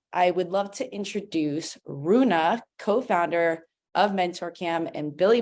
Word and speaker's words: Rune: So Rune, take it away. Michelle, thank you so much. My name is Rune.